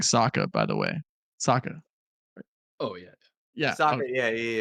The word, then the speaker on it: Saka: also we were mispronouncing I think we were mispronouncing Saka by the way Saka oh yeah yeah Saka yeah of course definitely